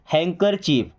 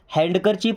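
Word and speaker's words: handkerchief: Okay, अब यहाँ पे डी हो जाएगा साइलेंट। क्या पढ़ेंगे? हैंकर चीफ। हैंडकर चीफ नहीं पढ़ते, क्या पढ़ते हैं? हैंकर चीफ।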